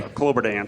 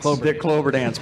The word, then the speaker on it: Kloberdanz: We got Chad Kloberdanz. Did I say that right? You pronounce it for me. Kloberdanz. Kloberdanz, perfect.